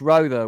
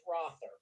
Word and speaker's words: Rhoda: none other than rhoda welcome how are you doing oh hi lance and it's rother it's pronounced rather i'm so sorry i